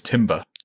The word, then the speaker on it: timbre: Yes, and as the only English people here, only English person here, I'm going to say it's timber.